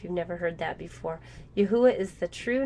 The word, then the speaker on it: Yahweh: capital y capital h capital W Capital H pronounced Yahweh our father and master yahusha now you might